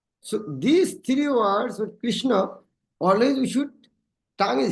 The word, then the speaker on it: Krishna: So these three words with Krishna, always we should, tongue is hitting the cerebrum. Krish, when you properly pronounce Kri, the tongue should hit the cerebrum.